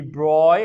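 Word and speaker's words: de Broglie: to bring in the deploy hypothesis yeah the bra hypothesis this is in your notes it's pronounced as the broy hypothesis just like must belong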